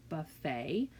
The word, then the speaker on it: buffet: ballet and buffet these two words end with the a sound so that does not match the pattern of et at the end of at the end of our um words at the final syllable so you're going to want to pay attention to that you hear a ballet and you hear buffet even though they're spelled with the e.t all right kiddos if